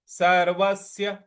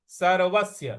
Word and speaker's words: सर्वस्य: देह नित्यमध्ययन देह नित्यमवध्ययन अगला पद है देहे देहे सर्वस्य सर्वस्य सर्व और जो स है इस पर हमको आघात देना है।